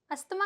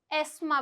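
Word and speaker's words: asthma: अस्थमा कहलाता है। बिल्कुल नहीं। यह वर्ड बहुत सारे लोग गलत प्रोनाउंस करते हैं।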